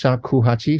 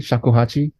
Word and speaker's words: shakuhachi: you're also on the soundtrack with your uh shakuhachi how do you say that yeah yeah pretty close shakuhachi shakuhachi okay yeah it's a Japanese flute Japanese flute